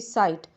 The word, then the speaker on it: sight: ठीक है, ऐसे SIGHT, साइट। ठीक है, ऐसे RIGHT, राइट। सब में GH की आवाज़ नहीं आएगी, लिखा जाएगा मगर आवाज़ नहीं आएगी, उसका उच्चारण नहीं होगा।